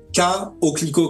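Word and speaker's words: Koclico: Alors je me trompe toujours, c'est K-O-Clico, comme ça se prononce, K-O-C-L-I-C-O.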